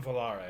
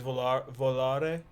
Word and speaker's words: Volare: going to put on velarai do you ever hear that song isn't it pronounced volere sure the the the dean martin song is volare it's italian i don't know what